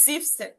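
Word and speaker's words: siebzehn: 16 17 এর ঘরে আমরা জেক্স না বলে জেক্সেন আর জিভেন না বলে জিপসেন এবং জিপসেন জিপসেন উচ্চারণে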